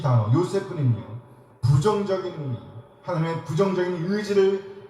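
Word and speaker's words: יוסף: 요셉이라는 이름의 기본적인 발음은 요세프입니다. 요세프 해보세요.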